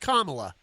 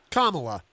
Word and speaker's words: Kamala: i believe it's pronounced kamala tamila kamala think of it as like the the the comma you know and punctuation comma kamala the tamil that's